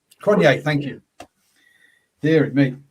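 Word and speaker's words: Cronje: tweet from ap uh i'm gonna say his name wrong uh ap crunchy c-r-o-n-j-e from south africa cronier kanye thank you hear it me um so what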